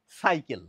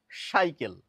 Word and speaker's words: সাইকেল: উচ্চারণ করি তাহলে হবে সাইকেল সাইকেল অর্থাৎ দন্তস এর উচ্চারণটি পরিষ্কার বোঝা যাবে সাইকেল যখন বলব এখন বাঙালিদের মধ্যে অনেকেই দেখবেন দন্তসয়ের উচ্চারণ না করে তালব্য সয়ের উচ্চারণ করেন।